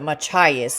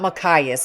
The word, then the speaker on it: Machias: Okay, that's how you pronounce it. Machias, not Makias.